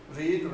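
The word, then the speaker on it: read: इसका जो third form होता है वो भी रीड्स प्रोनाउंसिएशन उसका सिमिलर होता है जो आपका फर्स्ट फॉर्म, बट उसका जो सेकंड फॉर्म है रेड प्रोनाउंस करते हैं।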